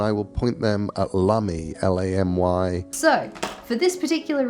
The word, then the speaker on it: Lamy: these particular pens, and I always thought it was pronounced Lamy, but today we're gonna go with Lamy because that is how Neil Gaiman pronounced it.